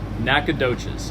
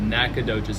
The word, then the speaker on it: Nacogdoches: you say your hometown Nacogdoches okay so there's there's an O energy in there okay they're not Nacogdoches it's just Nacogdoches let it roll nice and smooth Nacogdoches if you if you